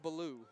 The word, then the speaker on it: Baloo: you say his name Balo Baloo yes is that that's similar to Jungle Book that's right exactly exactly